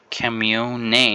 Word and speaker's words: Kamione: This is the Cami 1 or Cameon. I know some people pronounce it different, but I think it's Cammy 1.